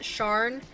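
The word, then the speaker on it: Sian: The name is S-I-A-N, and you told me to pronounce it Sharn. But I feel like if I were to pronounce that with an English accent, it would be like Sean.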